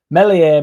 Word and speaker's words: Meslier: Melier, melier, silent Esenabache.